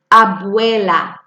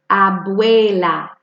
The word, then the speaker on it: abuela: the grandmother yes listen abuela see the U and the e in there making the way sound abuela there in your house abuela that's a good question